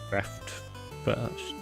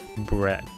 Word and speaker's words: breadth: Okay, you kind of do pronounce the D, but like breadth. Breadth.